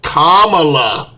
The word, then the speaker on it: Kamala: the democrats here say pronounce her name that way now it's kamala oh yeah they're making